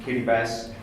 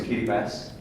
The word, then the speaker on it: Kiribati: As Linda said, I lived for 2 years in Kiribati, and it's actually pronounced Kiribati. The T is pronounced like an S.